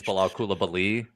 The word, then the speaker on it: Bilal Coulibaly: So you guys I love to hear both of you say Bal Kulabali. Just the way it rolls. And I even think we're pronouncing it right because apparently it's Bal Koulabi.